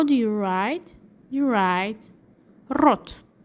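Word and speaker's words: рот: do you pronounce mouth in Russian language you pronounce rot and how do you write mouth in Russian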